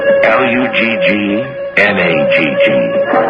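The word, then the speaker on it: Luggnagg: right outside the town of lugn oh I'll spell that for you l u g n a GG lug nag but guler's crew were suspicious of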